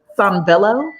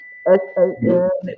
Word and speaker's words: Sanvello: Sanvello, Sanvello. And I'll spell it again, S-A-N-V as in Victor, egg, L-L-O.